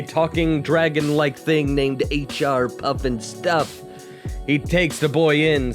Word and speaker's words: Pufnstuf: Hell, the main character's name is even pronounced Pufnstuf.